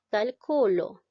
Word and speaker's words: calculo: La palabra dice calculo. ¿Ya? En esta palabra observamos que la mayor fuerza de voz recae en la sílaba Q, dice calculo. ¿Te das cuenta?